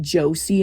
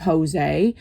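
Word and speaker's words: José: And at first I thought he was a girl because my phone pronounced it Josie instead of Jose.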